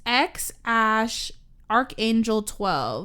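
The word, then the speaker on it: X Æ A-12: It's pronounced. Isn't it X Ash something 12? Oh, I thought I wrote it down. It's X Ash Archangel 12.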